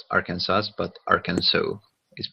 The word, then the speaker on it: Arkansas: he on about and it's actually a French origin for the pronunciation so there he goes